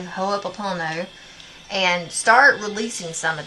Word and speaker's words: Ho'oponopono: So practice Ho'oponopono, you know, the Hawaiian thing. I can never say it correctly. Ho'oponopono.